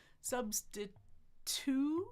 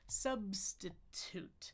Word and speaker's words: substitute: on that t so tongue back forward on the ridge on the bump and explode it but no voicing tut toot toot no voicing there substitute substitute substitute substit substitute substitute if you like.